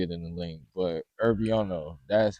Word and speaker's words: Irvyono: I'm not going to spell it out because y'all going to see it in the link. But Herbiono, that's how you say my name.